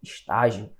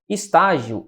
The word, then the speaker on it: estágio: Estágio. Estágio é uma paroxítona. Paroxítona. Paroxítona terminada em quê? Em ditongo, certo? Terminada em ditongo. Por que é paroxítona? Porque a sílaba tônica está na penúltima sílaba.